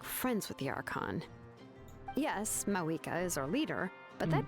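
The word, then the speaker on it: Mavuika: Yes, Mawika is our leader, but that doesn't mean there's any kind of tall barrier between us and her. So that's how it's pronounced. The V is pronounced as a W.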